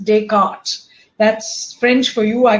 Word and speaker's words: Descartes: So it is it's not descartes it is decart.